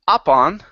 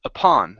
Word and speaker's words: upon: Right here, this word, instead of saying upon, the word is upon. The stress is at the end.